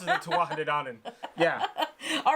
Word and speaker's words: Tuatha Dé Danann: So I would normally say this Tuatha Dé Danann, but in learning what the pronunciation is, it looks like it's Tuatha Dé Danann?